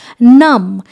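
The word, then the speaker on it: numb: করা হয় সেটা হলো নাম। এন ইউ এমবি নাম। কিন্তু বিটা কিন্তু সাইলেন্ট। বিটা কিন্তু প্রোনাউন্স হবে না।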